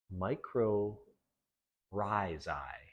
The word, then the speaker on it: mycorrhizae: So I read on how to pronounce this, and apparently it's micro rhizi. So I was wrong. I don't know if I've ever heard anyone said mycorrhizae, but I'm just going